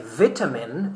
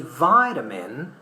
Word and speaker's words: vitamin: We say vitamin in British English, but we say vitamin in American English.